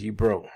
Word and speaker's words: Yibir: One of the ways to pronounce Yibir is Yibro.